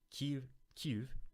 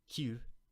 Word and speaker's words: Kyiv: I'm trying to pronounce them correctly. Kyiv versus Kiev, right?